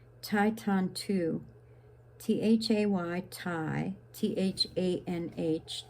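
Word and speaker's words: Thay: Now, here's a name, Tai Tan Tu, T-H-A-Y, Tai, T-H-A-N-H, Tan, and Tu, T-U, Tai Tan Tu. So when you see the T-H, it's pronounced as T, and when you see the T, it's pronounced as T.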